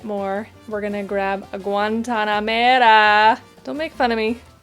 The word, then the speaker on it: Guantanamera: We're gonna grab a Guantanamera. Don't make fun of me. Okay, I'm trying to say it correctly. That's how you say it.